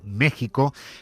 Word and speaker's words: México: Se escribe con X, pero se pronuncia con J. Ese país que no existió hasta que llegaron los españoles según Ayuso. Mire, México no existió hasta que llegaron los españoles.